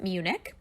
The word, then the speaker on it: Munich: it circled down there it is spelled differently in German than we spell it in English keep it in English you pronounce it Munich so that's in the